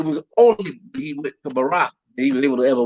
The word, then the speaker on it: Barack: went and it's crazy i went to school with a guy named barack and so i knew how to pronounce it properly but you have people barrack hey baby right yeah so yeah